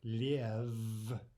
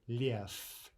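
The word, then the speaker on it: лев: Instead of liev, we say lief, lief, right? Devoicing of the final consonant.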